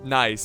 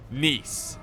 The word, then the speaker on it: Nice: siege of nice okay well it's it's not pronounced nice it's spelt like nice in the english language but it is pronounced nice and nice is a beautiful mediterranean city and